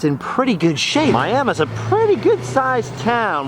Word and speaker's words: Miami: to our next destination, Miami, Oklahoma. Yes, it's spelled like Miami, but don't pronounce it that way in front of the locals. They can become quite animated.